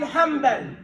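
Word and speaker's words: حنبل: We say Ahmad ibn Hanbal.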